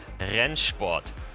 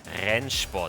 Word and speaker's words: Rennsport: ever record gameplay of ryan sport that's how it's pronounced henshbot it's a german word for racing sport basically and we have this